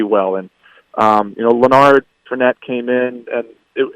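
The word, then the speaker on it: Lanard: to his older brother yeah forette so so lonard forette uh he came into the season um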